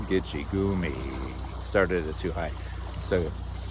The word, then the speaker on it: Gitchigami: They don't call it Gitchigumi. They call it Gitchigami.